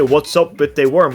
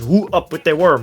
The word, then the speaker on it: Who up with they worm: I mean, I also made a team name which is easy to mispronounce because you say what's up with the worm, but it's Woo Up With The Worm.